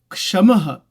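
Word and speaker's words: शम: five this quality of shamaha shama It is not ka. It is s a m sha maha.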